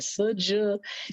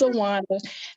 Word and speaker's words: Sjuwana: Number one, the way it's spelled is really, it throws everybody out. They be like, Suja, but it's Sjuwana.